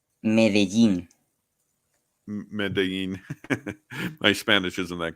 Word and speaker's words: Medellín: Medellín, Am I pronouncing that right? Medellín.